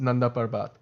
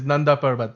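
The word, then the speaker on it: Nanda Parbat: parbat it's it was they like nand parb it's the most white way in which you can pronounce it cuz it's nbat that's what it is that's how you pronounce it it's nbat that's and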